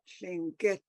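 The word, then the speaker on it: Lingít: but we call ourselves Lingit. Get Lingit. So you let that silent letter, the air, get, Lingit. yeah. Lingit. No, it's not Lingit. It's Lingit. That there's a tone mark on the last I.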